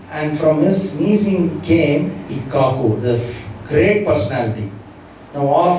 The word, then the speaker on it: Ikshvaku: I was thinking the pronunciation is Ikshvaku because it is spelled as IKSVAKU. But 2 days ago, I was listening to the Prabhupada's, and Prabhupada pronounced it as Ikkaku.